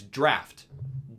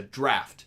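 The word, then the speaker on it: draught: and all the time I see this word when I when I read is called it's draft DRA ugh T that's a draft yes I always thought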